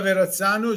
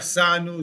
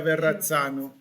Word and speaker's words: Verrazzano: Attention, avons bien prononcé la double R comme en espagnol, verra. Et Zano, pas Sano, Zano, Zano comme pizza, pizza Giovanni da Verrazzano.